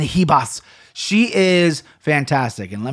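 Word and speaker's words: Ribas: that number 2 Amanda Heba you gotta say her name like a spanis Amanda he boss she is fantastic and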